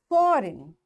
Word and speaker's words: foreign: Now G is there and N is after G, so this G is silent and we will say it design. Foreign, sign, align, resign, assign, rain, clone, campaign.